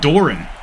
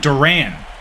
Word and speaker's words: Duran: backfield again by Raymond Doran sorry Raymond Duran I think I've been saying his name wrong this whole time Raymond Duran it's another